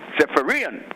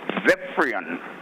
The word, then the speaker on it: Zephyrian: The pronunciation as catalogued in the dictionary is Zephyrian. Zephyrian and not Zephyrian.